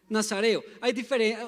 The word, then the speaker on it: nazareo: Y dice, porque el niño será nazareo. ¿Alguno había escuchado esa palabra? Nazareo. Uno tiende a confundirlo entre nazareno y nazareo, sin la N.